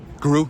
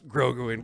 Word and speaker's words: Grogu: This is his name wrong. Guru? Is it Guru? Garagu?